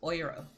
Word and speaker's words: Euro: um oh yeah so the word for Euro it's EU r o same way we spell it in English but um it's like writing o y oi is a pronunciation so it's oiro well no that's it's